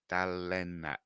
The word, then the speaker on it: Dalene: um the D lenat so delat dalat is pronounced there you go everyone so yeah what